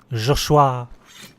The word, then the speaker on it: Joshua: doors and sickly Joshua josua that's how the French pronounce it josua you commanded my